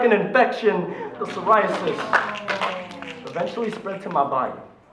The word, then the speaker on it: psoriasis: only a case of psoriasis psoriasis it's spelled with a p as silent as its symptoms because while my dad